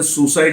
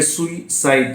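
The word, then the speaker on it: suicide: सुसाइड, ध्यान दीजिए इसका प्रोनाउंसिएशन सुसाइड नहीं है, सुइसाइड।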